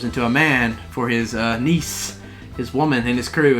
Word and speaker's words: Nice: Did you say he's a niece guy? I knew that would get you. For those of you who don't know, niece is the girl he's in love with. Spelled nice. Yes, spelled like nice.